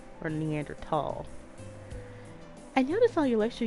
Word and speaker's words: Neanderthal: preference a preface and there's no h sound when it's pronounced in french and german it's something when i